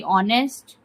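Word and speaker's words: honest: बी ऑनेस्ट। ऑनेस्ट में जो एज होता है वह हमारा साइलेंट हो जाता है।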